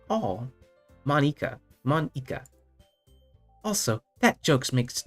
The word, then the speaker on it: Monika: your name Monika Monika that's not how you say my name at all Monika Monika also that jokes